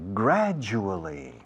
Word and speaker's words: gradual: Slowly but surely, gradually. Fijaos la pronunciación de gradual. La D más la U, en inglés, tiene sonido de J inglesa, que es ju.